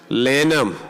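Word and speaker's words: Lanham: That's L A N H A M Lam. The H is silent.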